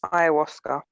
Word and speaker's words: Ayahuasca: Ayahuasca. Oh, there you go. I didn't know how to pronounce it.